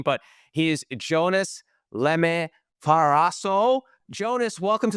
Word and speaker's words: Jonas: name for everyone so they know the exact pronunciation of it it's Jonas ah it was close-ish uh Jonas you heard